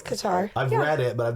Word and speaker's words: Qatar: I'm saying it right it's like Qatar no it's Qatar I've read it but